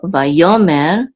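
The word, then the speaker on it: ויאמר: The accent is on yo, vayomer.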